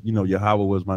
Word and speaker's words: Yahawah: Lord he said yoh wave we would say yahawah and we would spell it y a w a h yahawah i